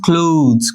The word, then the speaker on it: clothes: ওকে, তাহলে এখানে কি হচ্ছে এন্ড এবং পুট হিজ ক্লোথস, ক্লোথস, হ্যাঁ ক্লোথস, এখানে একটা জয়ের মতো উচ্চারণ হবে, জয়ের মতো, এটা প্রোনাউন্সিয়েশন কিন্তু ক্লোথ পড়ো তোমরা, এটা ক্লোথস, এখানে জয়ের মতো একটা উচ্চারণ হবে।